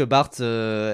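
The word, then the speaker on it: Barthes: Bien sûr, qui se prononce Bart d'ailleurs ? parce que je sais que j'ai des potes qui qui font des vidéos parfois sur le cinéma et qui disent Roland Bartes, ce qui est vraiment bref Feldob, il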